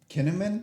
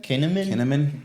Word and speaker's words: Kahneman: Kahneman. Kahneman. Sí, pues, casi suena a cinnamon. Pero esta persona hace un